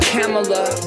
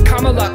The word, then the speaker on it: Kamala: can handle it means lus in Sans not camela doesn't rhyme with Canada cabinet going to be camela no koala don't say Cala that has to stop it's comma cuz come back to you Paris WS is